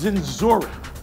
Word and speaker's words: Dzinziruk: Shaw and palula right it's zenor zenor he has a great